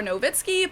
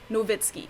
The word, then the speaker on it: Nowitzki: americans like to refer to him as dirk dirk nowitzki or novitskiy but in german we call him dirk nowitzki so the last one is usually right but